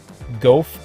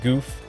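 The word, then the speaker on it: Gouf: So first up is the MS7 Gof or Goof. You'll hear me pronounce it both ways.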